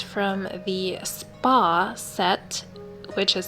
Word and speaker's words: Spah: It's absolutely beautiful, and it's from the Spa set, which is spelled S-B-A-H.